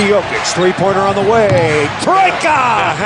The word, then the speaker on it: trojka: Troika! That's how they say it in Serbian.